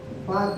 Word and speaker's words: Palk: यहाँ पे कौन सी खाड़ी है, इधर मैं लिख दे रहा हूं, पाक की खाड़ी। इसको लिखा जाता है PALK, पाक। एल इसमें साइलेंट होता है, तो इसको हम लोग यहाँ पे अधला बनाएंगे, लेकिन इसको पढ़ेंगे क्या, पाक की खाड़ी।